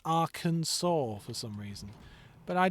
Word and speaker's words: Arkansas: And and what's weird is like it's basically the name of another place in America with a few letters attached but pronounced completely differently to h Oh yeah.